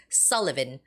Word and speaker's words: Sullivan: So, it's Sullivan. Sullivan with the first syllable stress and watkins.